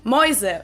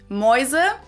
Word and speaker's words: Mäuse: in this diphthong, where the letter combination is pronounced as Oi, the same as EU in German, as in Mäuse, which means mice, or Läuten, which means to ring. Mäuse, Läuten. Now, in the celebrities video,